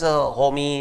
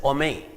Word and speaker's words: homie: So, but they don't pronounce it as homie and all that. They just say ome.